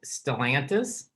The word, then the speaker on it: Stellantis: I have a question about, and correct my pronunciation if it's wrong, Stellantis.